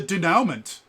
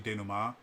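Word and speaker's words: dénouement: goes it's not collaborative storytelling where is the denouement um which that isn't how you pronounce is actually Dana Ma um but it's spell denouement um and what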